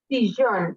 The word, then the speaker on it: sillón: Sillón. Okay. As you see here are two L's and we pronounce like yo.